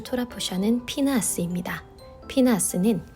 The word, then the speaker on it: 피느하스: 피느하스는 비느하스의 히브리식 발음입니다.